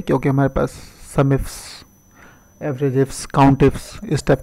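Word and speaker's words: AVERAGEIFS: हमारे पास एवरेज इफ्स है, तो उसको लोग बोलते हैं एवरेज इफ एस।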